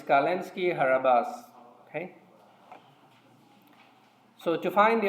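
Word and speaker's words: Calinski-Harabasz: No, it's Kalinski Harabas.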